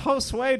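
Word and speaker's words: Josué: It's pronounced Josue, dude.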